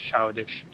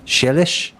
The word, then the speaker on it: Chelish: Benji maybe more so It's than pronounced childish. is Chelish.